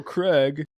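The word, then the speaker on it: Kregg: would have pronounced it Craig based on how it's spelled but I'm glad he said his how to say his name General Craig you know but it's great to hear Clancy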